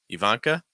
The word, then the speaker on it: Ivanka: the end Maria um Ivanka Ivanka start off with the E then van then Ivanka stress that uh second syllable Ivanka and Elena Elena